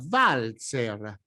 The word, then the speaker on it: Walzer: Now, this word: is pronounced WALZER, because in this case it is a word of German origin, so the double vu must pronounced as Germans do, as it were a Now an acronym